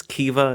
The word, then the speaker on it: Kiva: the constellation, she's noticing it takes me roughly 2 episodes to actually say Kiva correctly. Stacey's character's name is Kiva. It's spelt very it's hard to like look at it and know exactly how it's spelled, but there's going to be a lot of Kima because it's spelled with it's spelled that way almost. But Kiva, always remember that Kiva.